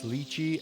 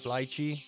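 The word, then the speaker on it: lychee: I also finally want to thank the commenter who said it's luchi and not lychi.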